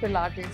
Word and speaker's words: Pilates: Has anyone ever mispronounced the word Pilates in front of you? Always. Yes. Tell us some fun ones. Plates. All the time. It's plates, pilates.